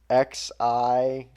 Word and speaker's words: Xi: I guess they're going for what is XI, which would be Chi? Well, I'll give it to you, XI, but it's Xi.